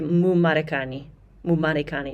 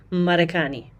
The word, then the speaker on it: Marekani: So do not say Mu Marekani, no. Marekani, Marekani. Don't make that mistake of saying mu at the beginning of words that start with M.